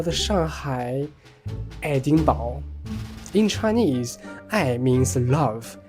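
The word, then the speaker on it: 爱丁堡: Interestingly, Aidingbao is also the Chinese pronunciation of Edinburgh, the capital city of Scotland.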